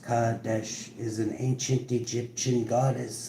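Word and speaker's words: Qadesh: Cuadesh pronounced Kadesh is an ancient Egyptian goddess of sacred ecstasy.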